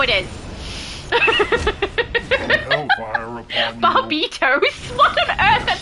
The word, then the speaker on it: Barbatos: Barbatos. Okay, it makes sense because he's a bat. That's just how it is. Barbitos?